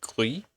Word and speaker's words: Gris: We will be playing a game called Gris or Glee if you're French, which is how it should be pronounced, but we're also going to be turning it into a proper YouTube video.